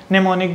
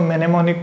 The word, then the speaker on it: mnemonic: Third strategy है नेमोनिक devices. Well मैं इसको मेनेमोनिक पढ़ा था पर मैंने प्रोनाउंसिएशन चेक की, ये नेमोनिक है, एम साइलेंट होता है पहले वाला।